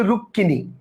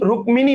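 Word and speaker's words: রুক্মিণী: এর সাথে ম কিন্তু হিন্দিতে এটা রুক্মিনি উচ্চারণ হলেও বাংলায় কিন্তু আমরা বলি রুক্কিনি অর্থাৎ উচ্চারণ কিন্তু রুক্িনি রুক্মিনি না রুক্কিনি কথা বুঝতে পারছেন মফলা ক এর সাথে যুক্ত হলে উচ্চারণ দ্বিত হয়।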